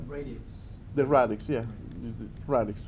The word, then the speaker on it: radix: Radix.